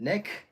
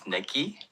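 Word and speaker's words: NEK!: am I looking at is it is it neck which I think is what I originally pronounced it as but it is necki uh with that upside down exclamation but then but it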